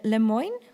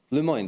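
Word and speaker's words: Lemoine: talk show host like me, talks with Blake Lemon. Would you say like that? How do you pronounce it? Le Moine. They pronounce. Yeah. I always pronounce Lemon, but no.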